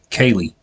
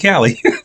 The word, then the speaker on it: Kali: Miss Kaylee. Sade. See, I remembered. I almost went with Callie. I don't know why. I don't know. I guess it's the way that it's spelled.